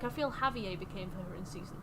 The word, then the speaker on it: Javier: Also, she said Javier instead of Javier. What a weird mispronunciation.